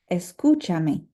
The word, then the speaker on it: escúchame: You'll notice that now the U has an accent because we need to make sure that this syllable remains emphasized, even though we've added a syllable at the end. So it is escúchame.